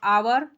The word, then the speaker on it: hour: During the school how आवर, यहाँ पर देखो ये साइलेंट है, हावर नहीं पढ़ोगे, यहाँ पर क्या पढ़ोगे, आवर पढ़ोगे। HOUR, देखो HOUR जो है ना, इसको हम क्या पढ़ेंगे बच्चों, इसको हम आवर पढ़ेंगे। आवर, H साइलेंट है, इसलिए मैं बार बार